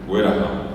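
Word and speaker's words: guerahá: Eh, ese señor gordo llevó, dice, llevar es heraja. Ueru es traer. Heraj es llevar. Que se escribe g u e r a h a. Herja. Herja. Ahí está. Heraja.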